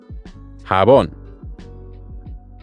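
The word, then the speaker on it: jabón: use in the shower habon El any idea of what habon could be it's soap Elon to remember habon think about how it sounds like hang on which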